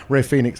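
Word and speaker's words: Rey Fénix: R him, sorry, pronounce Ray Phoenix as a casualty of something bigger.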